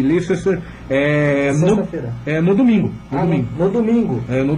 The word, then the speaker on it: Leicester: Se escreve Leicester, mas pronuncia Leicester City.